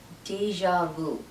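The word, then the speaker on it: déjà vu: pm the next word is deja vu it's pronounced deja vu vue the pronunciation is not very tricky but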